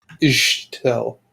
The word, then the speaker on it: Ixtel: So Chichan and female Ixtel. name. Ixtel. Here, I got it. I'm pretty sure you pronounce X's as S's or shiz. Ische. Yep. Ishtel.